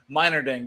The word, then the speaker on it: Meinerding: We are also joined by Meinerding. Did I say it right? I pronounced You got it right.